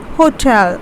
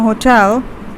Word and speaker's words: hotel: pronounce this as hotel stress is on the second syllable we pronounce this as hotel and not hotel the next one we have when you have purchased a bedroom in a hotel or when you are